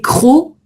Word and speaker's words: crocs: Les crocs, là tu as un C final, mais qu'on prononce pas non plus.